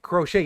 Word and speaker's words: crochet: Am I pronouncing it right? Nah, crochet.